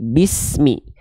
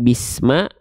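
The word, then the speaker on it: بسم: Jadi bismi. Jangan bisma, bukan juga bismu. Bismi. Kita ingatkan kembali, sempurnanya vokal i pada harokat kasroh itu direndahkan rahang bawah dan angkat tengah lidah. Biar pelafalannya mi-nya sempurna. Bukan ditarik ke samping bismi, tapi bi ditarik ke bawah.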